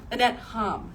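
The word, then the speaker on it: Annette Hamm: Annette Ham is how you pronounce her name.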